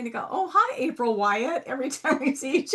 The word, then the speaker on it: Wyett: Is it Wyatt? I never even asked how to pronounce. What is it? Yes, you got it. It's Wyatt.